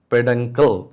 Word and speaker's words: peduncle: Pronounce it peduncle.